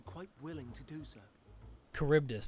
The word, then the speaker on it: Charybdis: Charybdis, that's how you pronounce the creature's name.